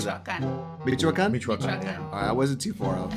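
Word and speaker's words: Michoacán: Michoacan.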